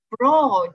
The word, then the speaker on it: broad: ，这个单词呢？Broad。Broad， yeah， broad，不要读成 brand，是变成另外一个单词了。